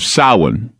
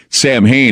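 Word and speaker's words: Samhain: Sam Hayne is they if I were to say sam Hayne every go oh yeah I know what Sam Hayne is it's something evil Sam Hayne but it's actually called sa there's sa and then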